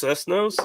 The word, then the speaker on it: Cestos: and pop place called Cestos. That's what I'm having tonight. 2 slices. Call us Cessnos? Is that what you said? Yes, correct. Exactly. You didn't fuck it up at all. You pronounced it correctly.